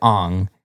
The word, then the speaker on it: Aang: was a character who named Ang spelled the same way but they pronounced it on because correct I'm going